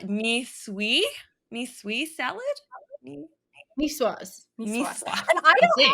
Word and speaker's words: Niçoise: whole reel on this, me trying to pronounce it, because of course I just went with the knee choice, like it's always because I think in Turkish that kind of C is like a ch, so I always go into that.